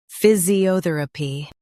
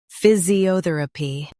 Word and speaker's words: physiotherapy: physiotherapy Now, read the syllables shown on the screen naturally. phys i o ther a py physiotherapy Stress o and keep ther light.